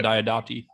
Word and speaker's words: Diodati: I'm hoping that I'm manifesting that Maxine Alderson, I think that's the name, who wrote The Haunting of Villa Diodati.